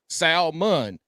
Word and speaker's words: salmon: Eat the But the L in salmon is silent. You don't. Your buddy's name is Sal. You call him Sal, and if his last name is Mon, it's Mun. Sal Mun.